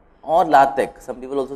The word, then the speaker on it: LaTeX: LaTeX, tech, T-E-X. The T-E-X is pronounced like tech in technology, or LaTeX.